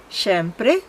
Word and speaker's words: siempre: Siempre, en Tagalog, con una leve diferencia en la pronunciación. Sh, en vez de si. Siempre, siempre.